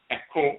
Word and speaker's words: Aakhu: That's the way it's pronounced in ancient Kemet, Aakhu and Aakhu, dealing with divine wisdom.